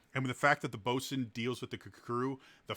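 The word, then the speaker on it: boatswain: uh specifically mention the boson uh which is spelled boats swain or boat swain uh but it's pronounced boson and if you don't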